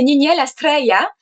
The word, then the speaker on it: Niniel Astreya: Donc, prononcé en elfe, c'est Niniel Astreya.